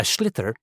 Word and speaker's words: sliotar: this ball, called a sliotar. That's s l i o t a r. So, it's not spelled the way it's pronounced.